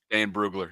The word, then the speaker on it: Dane Brugler: Dane Brugler, yeah.